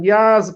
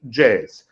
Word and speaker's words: Jaz: We're pronouncing Yaz, but usually the foreigners pronouncing Jazz.